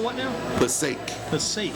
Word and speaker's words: Passaic: Passaic, New Jersey.